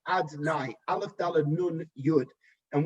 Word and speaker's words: Adonai: That level of Yud Kei Vav Kei, right now we do not pronounce that name as it is written. Instead, we pronounce it as Adonai, Aleph Dalad Nun Yud.